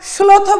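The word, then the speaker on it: শ্লথ: দন্তস্বর মতো উচ্চারণ করব। তাহলে এটাকে আমরা স্লোথ বলি না, কি বলি?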